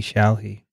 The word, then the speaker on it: Shelley: Pronounced like a Cockney. All right, how would you say a Cockney shall he? Just like that.